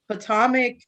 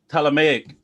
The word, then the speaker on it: Ptolemaic: Like, so Potomac Kingdom, that will be around 305 BC to hold on.